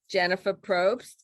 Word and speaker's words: Jennifer Probst: the page podcast with our very special guest jennifer probst thank you did i pronounce that right yes you scripted it perfectly